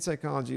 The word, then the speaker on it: psychology: The P in psychology is silent because the word is derived from the Greek word root psyche, meaning soul mind, which begins with the Greek letter psi.